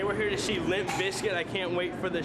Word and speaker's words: Bizkit: Originally, it was always pronounced Limp Bizkit, I believe, but originally the name was spelled B-I-Z-K-U-T, the biscuit was, but they changed it because they didn't want people pronouncing it Bizcut, I believe.